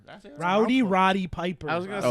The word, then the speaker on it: Roddy Piper: Rowdy Piper. That's it. Roddy Piper.